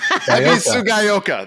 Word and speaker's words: Ebisugaoka: Ebisu Gaioka.